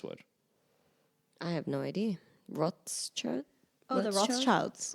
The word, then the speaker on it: Rothschild: Rothschild? Oh, the Rothschilds. Rothschild.